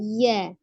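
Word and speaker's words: ي: Ya, jadi pengucapannya bukan ya tapi ya.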